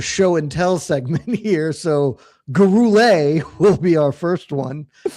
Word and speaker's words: Gurule: Uh Jed, which fighter's name is LT most likely to overpronounce? Rodrigo Vera Luis Guru or Orici? It's Gurule by the way.